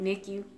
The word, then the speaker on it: NICU: I said it right, NICU.